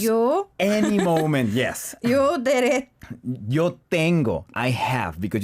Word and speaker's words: derecho: And if you change 자격 to Spanish, is derecho, which also could mean 직진, to go straight.